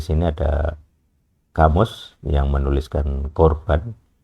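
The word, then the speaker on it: קָרְבָּן: Jadi seperti saya tunjukkan di sini ada kamus yang menuliskan korban. Jadi pengucapan yang asli adalah khof, tapi kita kesulitan untuk menirukan bunyinya sebenarnya, makanya seringkali digunakan huruf K.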